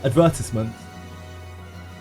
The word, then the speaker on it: advertisement: How do you say that? Advertisement. That's the English way of saying it. The British way of saying it. Advertisement. But sometimes I say advertisement as well.